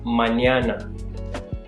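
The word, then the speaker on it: mañana: of pronouncing this letter it's always helpful to think of there being a y after the N so instead of saying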